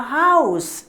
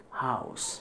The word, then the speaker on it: house: Similarly, we say a house. H is completely pronounced here. It is not like our, where H is completely not pronounced. It is not pronounced, but here H is pronounced in case of house.